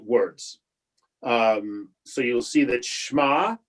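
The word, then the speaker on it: שמע: So you'll see that Shema, right, is a one syllable word.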